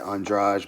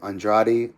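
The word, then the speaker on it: Andrade: The way he spells his last name is the same way that the Brazilians in the UFC like Jessica Andra and they pronounce it Andraj, but he I guess he says it Andradi.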